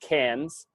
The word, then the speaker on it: Cairns: and she's like well Cairns pronounced Cannes in when with the